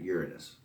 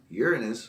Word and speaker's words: Uranus: been sending probes to Uranus. It's Uranus or Uranus. It's not Uranus. I don't know why people pronounce it like that.